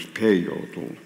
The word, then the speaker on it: peyote: the eyes Le peor its real name is peyote with the accent on the first civil payo and that his these